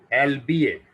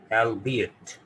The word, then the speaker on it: albeit: इसको पढ़ते हैं एल्बिएट। ठीक है, इसके दो प्रोनाउंसिएशन है हमारे लिए जो मोस्ट सूटेबल है, दैट इज, दो प्रोनाउंसिएशन है इसके। एक ये है एल्बिएट, एल्बिएट, एल्बिएट, एल्बिएट। सुनाई दिया रहा आपको?